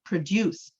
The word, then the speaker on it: produce: So for example, if I say the verb, I'm going to say produce.